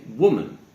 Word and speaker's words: woman: If it's a singular noun, we would say woman, woman. However, when it turns into plural, 2 or more, we say women.